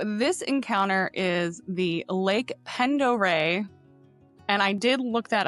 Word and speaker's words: Pend Oreille: So this encounter is the Lake Pendore, and I did look that up for pronunciation, so you should be proud of me.